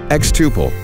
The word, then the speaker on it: xTuple: makes and sells products xtuple rhymes with quadruple and means to grow